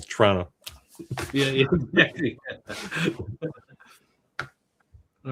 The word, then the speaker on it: Toronto: Not Toronto. Here it's kind of like, it's almost like one syllable. Toronto.